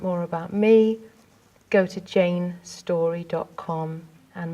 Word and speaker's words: Jayne Storey: about me go to Jane story calm and my name is spelt Jane is spelt with a y and story is spelt with an ey